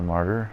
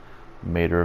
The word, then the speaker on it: martyr: the mater and I the martyr I guess is how it's pronounced not a mater like as in that Disney Pixar Cars movie um well yeah I